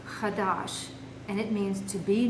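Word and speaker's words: חדש: The first one is a verb, which is pronounced chadash, and it means to be new, renew, or repair, especially when it's talking about items.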